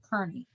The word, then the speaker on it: Kearney: No, it's not Kearney. Kearney. They say it wrong.